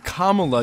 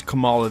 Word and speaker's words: Kamala: of her avengers shirt she starts by calling her kamala to which she quickly and quietly responds kamala that's really correcting all of us who have been using her name wrong the entire time and then what follows